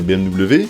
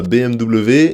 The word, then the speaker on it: BMW: chocolat et on a BMW et BMW et la bonne prononciation c'est men bat les couilles juste que le W se dit V en allemand donc après si on